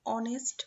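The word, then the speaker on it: honest: আবার এখানে দেখো, অ্যান অনেস্ট ম্যান, যদিও এটা এইচ দিয়ে শুরু ওয়ার্ডটা, বাট এইচ এর উচ্চারণ এখানে অ এর মতো হয়ে গিয়েছে, যার কারণে এখানে এ বসেছে।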